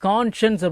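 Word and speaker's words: conscience: இது வந்து கான்ஷன்ஸ் அப்படின்னுதான் உச்சரிக்கணும். சரிங்களா மனசுல வச்சுக்கோங்க.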